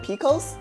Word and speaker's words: PCOS: Polycystic ovarian syndrome, PCOS, but we just call it Picos.